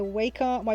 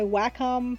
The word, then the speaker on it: Wacom: for this painting um i'm using my my waco my wacom that's how it's pronounced it's that's how it's supposed to be